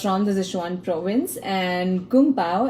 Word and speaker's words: Kung Pao: He was from the Sichuan province, and Kung Pao, actually in Chinese, sometimes it's pronounced as Gung Bao, is a title.